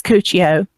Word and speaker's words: Cuccio: cool show and um I had a problem trying to pronounce it too but it's cuccio and she told her I'm sorry we're 12.